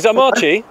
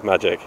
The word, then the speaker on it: Maciej: competition hi good morning zamachi uh yeah it's pronounced magic yeah it's pronounced what sorry magic like abracadabra just magic oh just magic and